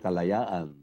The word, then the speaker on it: Kalayaan: binigyan tayo ng tools na hindi nagbabagay don sa ating natural or for example kalayaan that's what four syllables.